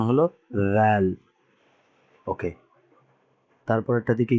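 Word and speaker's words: ذال: এরপরে এটার নাম হলো রাল। এটা জ দিয়ে লিখেছে কিন্তু এটা উচ্চারণ হবে একদম পাতলা।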